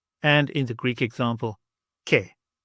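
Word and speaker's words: και: So the first one we have here is the A and the I combination, and together they make a E sound, E, as in the word set, and in the Greek example, ke, ke.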